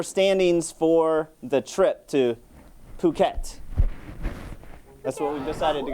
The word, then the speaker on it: Phuket: And then these are your standings for the trip to Phuket. That's what we decided to go with the pronunciation, right?